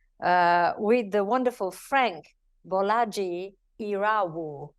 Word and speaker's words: Bolaji Irawo: with the wonderful Frank bolaji iru did I say it right oh yes you landed that one I landed that one